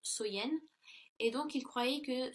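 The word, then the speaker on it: Samhain: nuit de l'année donc était samen donc qui est prononcer qui se prononce soyen et donc il croyait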